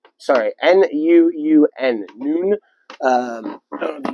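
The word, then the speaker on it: Nuun: Don't know how to pronounce that. It's N-U-U-N, Noon.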